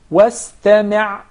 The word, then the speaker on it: واستمع: Of course, we don't have any problem whatsoever with pronouncing the sin properly because it's followed by a letter that's already muraqqaq, so it will not be confused with the sad.